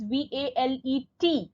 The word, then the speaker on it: valet: Children, it is V-A-L-E-T. Okay, T is silent, valet.